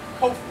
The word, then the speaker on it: Kofi: So in the case of boys born on Friday, it's Kofi, K-O-F-I, like the late Secretary General of the United Nations, Kofi Amen. We phonetically, or we anglicize that to pup or puppy.